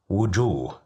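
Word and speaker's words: وجوه: Wujuh, which means faces. Here we have different faces with different emotions. Here we have dhamma, so that's why we pronounced it as wu.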